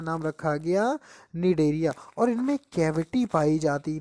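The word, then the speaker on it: Cnidaria: अच्छा, निडेरिया, वैसे सी साइलेंट होता, निडेरिया ही पढ़ा जाता है।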